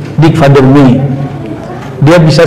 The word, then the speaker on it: Meij: Dick van der Meij, Meij tulisannya, tapi bacanya orang Belanda itu kan J itu dibaca Y. Dick van der Meij.